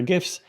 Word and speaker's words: GIF: And for the record, I was at a business retreat with the founder of Giphy, the online library for GIFs, and he assured me that it is pronounced GIF and not GIF.